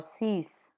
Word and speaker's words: six: Final consonants are pronounced in numbers, like cinq or six.